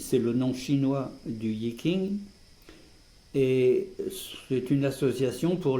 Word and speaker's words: Yi King: En chinois, on prononce I Ching, mais en français, on a l'habitude de franciser les noms, donc on va continuer à dire Yi King.